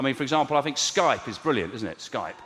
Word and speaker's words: Skype: I thought it was Sky Pee. Like a version of Sky Sports.